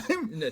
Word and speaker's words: thyme: Thyme. There's an H in there, bud. Yeah, it's silent. Oh, shit, yeah. okay. Yeah, Thyme. Scandinavian, the H is silent.